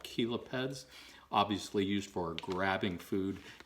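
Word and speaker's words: chelipeds: the big claws here are called caleb heads even though that is spelled c-h-e-l-i-p-e-d they're called kilo peds obviously used for grabbing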